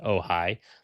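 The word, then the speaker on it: AOHI: It's it's pronounced oh hi like you know h ai kind of a thing like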